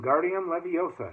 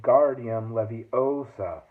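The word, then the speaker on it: Wingardium Leviosa: much luck either when Guardium Leviosa he shouted waving his long arms like a windmill you're saying it wrong Harry Hermione snap it's when Guardium Leviosa make the GAR nice and long you do it then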